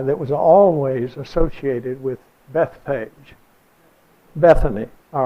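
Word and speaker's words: Bethphage: how you pronounce that if you said it in Greek it would be what you have down here Beth say Jay Beth fagi would be the name or you would pronounce it but the way we say it in English is just Bethpage and I wanted you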